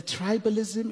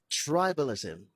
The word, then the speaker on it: tribalism: The tribalism in America is incredible. Tribalism. The stress is on the first syllable. Not tribalism. There are writers that talented writers today in this country.